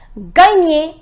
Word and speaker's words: gagner: The pronunciation is gagner.